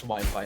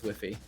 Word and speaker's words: Wi-Fi: I don't care JY have you ever pronounced Wi-Fi as whiffy cuz I was that I was that stupid child get